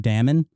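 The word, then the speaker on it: daemon: m o n is Damon apparently and the AE is an a sound like apple or bad linguistically so when I read the word Damon Dam and I'm forced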